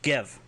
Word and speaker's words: gev: So stop it or stop is gev, spelled G-E-V with an exclamation point.